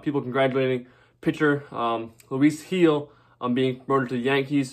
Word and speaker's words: Gil: um some stuff about heal here first of all i said you're saying it wrong it's not uh it's spelled uh gil but it's pronounced heal like i said pedigree